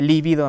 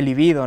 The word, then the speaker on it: libido: como el haiga o cuando se dice libido en vez de libido no o el violín